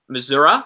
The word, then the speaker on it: Missouri: for a film named Debbie Missouri and we missourah sorry yes you heard Francis say it properly